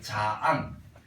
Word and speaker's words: 장: 장을 길게 자앙, 김을 늘려서 길게 기임. 장씨, 김씨예요.